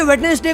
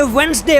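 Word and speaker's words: Wednesday: Number 15, English में कई ऐसे वर्ड्स हैं जिसे हम रोज बोलते हैं, जैसे कि वेडनेसडे को हम वेडनेसडे कहते हैं पर उसे वेडनेसडे प्रोनाउंस करना चाहिए और डाटा को डाटा नहीं बल्कि डेटा बोलना चाहिए।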